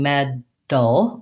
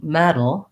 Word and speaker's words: metal: up pressure pressure so i'm not saying med dull or med tulle with a tight tongue that bursts out i'm saying metal metal where i lift up to that td position i have my voice on but it's a light touch i'm on it and